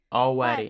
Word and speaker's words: already: By the way, she pronounces it with the L, already. Already. But know that you can drop the L. It's also okay.